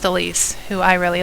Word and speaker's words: Elise: Now this word right here, Elise, that's how it's pronounced, there is a character who says it in their critical line. It's basically just the same as the healer from Conquest, Elise, who I really like.